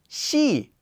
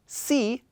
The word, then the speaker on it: 시: vowel where it does she notice it's not c it's she with an sh sound shia even though this